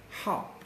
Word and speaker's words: 好: So we have another pronunciation of this word, and that is 好. 好. 好. 好. Yeah, with the fourth tone, okay? With the fourth tone. 好.